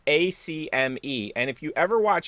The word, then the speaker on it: Acme: about acme is that when you're from philly a lot of people don't call it acme for whatever reason they add like extra syllables to it so it's the acame i'm gonna go over to the acame like what but it's